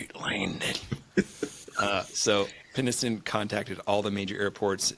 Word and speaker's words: Penniston: So Penniston, and I'm not saying penis, but I want.